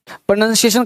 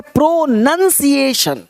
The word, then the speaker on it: pronunciation: आपको शुरुआत कहाँ से करना चाहिए, किसी भी लेटर का उच्चारण क्या हो, तो सबसे पहले इसे लोग पढ़ते हैं प्रोनाउंसिएशन। प्रोनाउंसिएशन नहीं, एक है प्रोनंसिएशन।